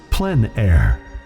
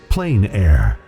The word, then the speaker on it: plein air: open air or outdoors the French pronounce it plenn air others say plein air no matter how you